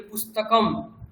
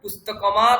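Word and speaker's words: পুস্তকম্: তাহলে ব্যঞ্জন বর্ণের শুধু উচ্চারণ মানে ম। তাহলে পুস্তকম ব্যাস পুস্তকম এরকমও নয়। পুস্তকমা এরকমও নয়। পুস্তকমা তাও নয়। পুস্তকম কোন স্রবর্ণ নেই। তাহলে ব্যঞ্জন বর্ণ এজ ইটস। তার উচ্চারণ হবে পুস্তকম।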